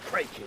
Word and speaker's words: Kraken: Always heard it said Kraken. Oh, with a long A? No. Crockland's how it's pronounced.